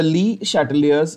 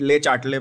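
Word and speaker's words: Le Chatelier: Some Mahan students call it Le-Chatelet principle. It's not. It's a French term. In some places you will find it spelled with C-H-A-T-E-R. Le-Chatelier. ऐसा आपको spelling मिलेगा normal, ठीक है। Spelling is not important.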